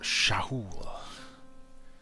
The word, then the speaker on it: Sha'ul: By the way, Mithras came to me in a dream telling me it's pronounced Shahul, but in defiance to him until we have slain him, we shall keep calling them Sha'ul.